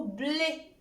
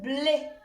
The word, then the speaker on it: blé: Et ça, c'est un accent qui transcrit le son « et », c'est-à-dire un « e » qui est fermé, qui n'est pas ouvert.